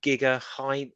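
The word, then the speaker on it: Gigandet: in it about and it's got a cam Giga High that's how you say his name very good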